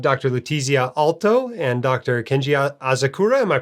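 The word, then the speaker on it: Kenji Asakura: you we have dr lutezia alto and dr kenji azakura am i pronouncing that right that's right every time i'm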